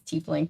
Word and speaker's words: tiefling: trifling but I just tiefling I think I always say it wrong it's teeth link but it looks like type link to my brain don't think he'll last